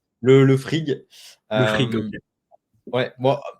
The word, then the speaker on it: Frigg: Du coup, comment on le prononce? Le frig.